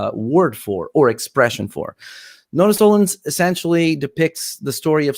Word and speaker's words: Nodus Tollens: Now it's help me pronounce it. Nodus Tollens. Exactly. You said it right. Nodus Tollens.